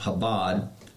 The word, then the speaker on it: Chabad: Habad it's actually CH ad ad but it's pronounced Habad Lubavitch rabbi confronts Benjamin Netanyahu this is like